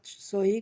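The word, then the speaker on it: ث: জিহ্বার আগা সামনের উপরে দুই দাঁতের আগার সঙ্গে লাগাইয়া সুন্দরভাবে উচ্চারণ করব সা।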